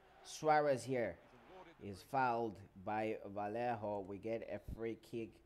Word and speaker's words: Vallejo: here replaced by Vallejo Vallejo that's how it's pronounced it comes a corner